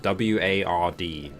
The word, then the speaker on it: Ward: Hold on, my accent doesn't let me pronounce it very well, but W-A-R-D, Ward. Yes. I can't do like I can't do W's leading into R's very well. It doesn't come out of my mouth very well.